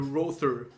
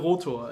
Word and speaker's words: Rother: Okay, Michael Rother, or as the Americans would say, Michael Rother, but in German it's Michael Rother, and the album is called Flammende Herzen.